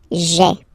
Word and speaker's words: j'ai: take this away, okay, so that you get this sound j'ai, j'ai. Okay, so j apostrophe ai. Remember, when you combine this ai, you get the e sound.